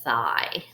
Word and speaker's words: thigh: now let's look at this word IgH that is a way we make a long I sound this is a vowel eval team so we're going to read this work with the long I and GNH will be silent I Phi my boys